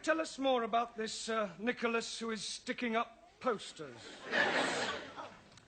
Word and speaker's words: Nicholas: Once upon a time, there was a man called Nickel Ass. It's not quite right. No? No. Once upon a time, there was a woman called Nickel Ass. It's pronounced Nicholas.